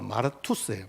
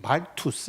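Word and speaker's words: μάρτυς: 능력을 주셨어요 여러분이 증인이라는이 단어가 헬라어로 마르투스에요 말투스 이렇게 발음을 하는데 증인은 원래 법정 용어잖아요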